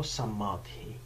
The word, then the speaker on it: samadhi: to speak today about samadhi or samathi like a different way it's a different way of uh pronouncing this word yeah but before i'm